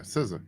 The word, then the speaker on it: SZA: It's spelled SZA. I want to say SZA or something like that. Yeah, SZA.